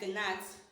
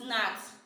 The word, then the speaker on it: gnat: It means when you are pronouncing such words like this, you will not read it as gnat. Remember, g is silent. We don't have anything as gnat, but what we have is nat.